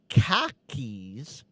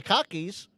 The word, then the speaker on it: khakis: those that don't know, the common joke is car keys, you know, your keys to your car and khakis k h a k h i s the cargo pants you wear. They sound the same in Bostononian and Australian accents.